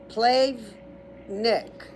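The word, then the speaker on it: Plavnik: The next island is uh Plave Nick. So P L A V like victory. Nick N I K.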